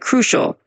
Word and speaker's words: crucial: Just a tiny pronunciation tip, when you say the word crucial, just emphasize that first part a bit like crucial.